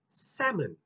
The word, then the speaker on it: salmon: eating salmon salmon can salmon but it's actually pronounced as salmon now here's another famous word i'm sure those